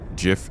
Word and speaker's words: GIF: Giant and gist use a soft G. So you're saying GIF as the creator intended.